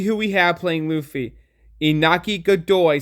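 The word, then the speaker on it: Iñaki Godoy: Inaki Godoy sounds literally like Nika. See, I almost fucked it up because it sounds so similar. Nika Joy Boy, Inaki Godoy, Nika Joy Boy. It rhymes.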